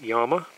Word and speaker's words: Llama: partially underneath the grips I've heard most people around here call this a llama but I believe the correct pronunciation is Yama these are a little